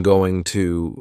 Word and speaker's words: going to: Next, I just want to mention going to, from that text. It's another informal contraction, just like want to. Going to is generally pronounced with the schwa.